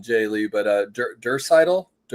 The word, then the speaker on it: Draisaitl: Now help me out with the pronunciation, Jay Lee, but Draisaitl? Draisaitl.